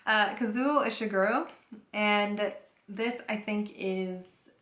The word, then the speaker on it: Kazuo Ishiguro: And it's called L'été après la guerre, so The Summer After the War, by Kazuo Ishiguro. That was a French accent on the Japanese name, which is, whoops, Kazuo Ishiguro.